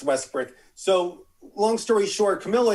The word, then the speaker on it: Westbrook: have they have davis back they have westbrook west brick excuse me that guy be calling westbrook here you mispronounced it the first time i know it's westbrook so long story short camilla anthony same draft